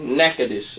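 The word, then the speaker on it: Natchitoches: party ocap is and it's pronounced NECA dish I'm like that best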